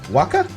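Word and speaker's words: Wakka: We can also fight Waka, I believe is the correct way to pronounce that.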